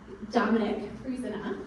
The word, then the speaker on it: Dominic Frisina: Dominic Frisina, did I say it right?